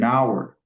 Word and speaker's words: hour: ici dans ce mot le H est muet ? Du coup la prononciation donne an hour an hour an hour et non et hour an hour all ?